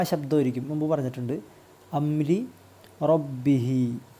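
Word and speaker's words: رَبِّهِ: ഫസഖ അൻ അംബി അംരി റബ്ബിഹി റാഇന് കസർ വരുമ്പോൾ ലി ര ര ശബ്ദം ആയിരിക്കും മുൻപ് പറഞ്ഞിട്ടുണ്ട് അംരി റബ്ബിഹി ഇവിടെ നിർത്തുമ്പോൾ റബ്ബിഹ് എന്ന് നിർത്തിയാൽ മതി റബ്ബിഹ് അപ്പൊ ഈ മദ്ദിന് പ്രസക്തിയില്ല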